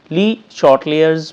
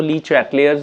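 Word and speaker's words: Le Chatelier: State ली शॉर्ट लेयर्स principal. इसको ली चैट लेयर्स भी पढ़ लेते हैं। ली शॉर्ट लेयर्स भी पढ़ लेते हैं। जैसे आपको आसान लगे।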